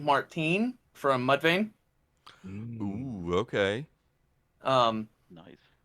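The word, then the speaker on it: Martinie: per I'm pretty sure his last name is pronounced uh it's Ryan Martine from Mudvayne okay um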